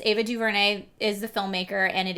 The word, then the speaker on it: DuVernay: 13th of the documentary on Netflix it's ava duvernay is the filmmaker and it is so well done and is it okay or diverting how do you say you probably know more